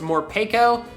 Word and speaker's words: Morpeko: In all seriousness, it's probably actually pronounced Morpeko, since Peko comes from the Japanese word harapeko, which means hungry.